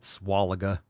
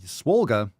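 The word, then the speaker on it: Swolga: __ ] is swollga some people try to pronounce it swalla or swalega it's swole yoga so swollga are classes Mobility yoga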